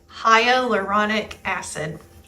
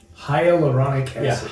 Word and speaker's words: hyaluronic acid: So, what they're doing is um they're injecting their members with and I made Jacqueline pronounce this because it's a uh it's a crazy name. Hyuronic acid. Hyaluronic acid.